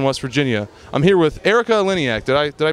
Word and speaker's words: Erika Eleniak: Chaka Khan Charleston West Virginia I'm here with Erika Eleniak did I did I pronounce that correctly yes that was beautiful I